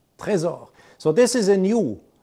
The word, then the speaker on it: Trésor: make for the watch it's pronounced french trezor so this is a